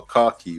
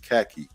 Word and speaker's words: khaki: we all wore uniforms what we call cocky but up here they pronounce it khaki um and I had